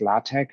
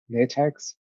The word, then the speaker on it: LaTeX: is what is latex first of all it's pronounced latex as opposed to latex it is a highly controllable and free setting